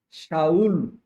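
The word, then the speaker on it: שָׁאוּל: Saulo já é uma forma grega de pronunciar Saul, Shaul, Shaul, que é Saulo, Saulo, né?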